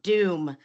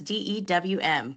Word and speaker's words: DEWM: And today I've got with us Clark Haymond, COO of DEWM. Now, that's not spelled like typical Doom, not the video game, but we're talking electronic warfare today, and that's DEWM.